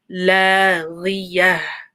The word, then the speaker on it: لاغية: غين with a kasra, so watch out. لاغية. And then the sound at the end.